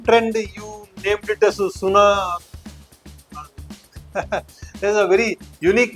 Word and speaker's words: SUNA: In the same trend, you named it as SUNA. There's a very unique name in the market. SUNA is that you have to hear. Yeah. Yeah, it's a closely brand. rhyming with the Sona.